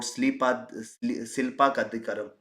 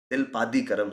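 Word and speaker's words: Silappatikaram: Then we talked about Silpa Kadikaram. Silpadikaram, sorry, I get confused while pronouncing it.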